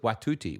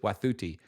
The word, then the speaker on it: Wathuti: And first thing I would say is her name is Elizabeth Wathuti, not Elizabeth Wathuti, which many people are calling her, but Elizabeth Wathuti is how you pronounce it.